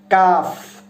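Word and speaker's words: كاف: আরেকটা যেটা কাফ আছে সেটা উচ্চারিত হবে জিহ্বার মধ্যখান থেকে, মানে মাঝের অংশ থেকে উচ্চারিত হবে। যেমন কাফ কাফ, কা কি কু, এরকম উচ্চারিত হবে।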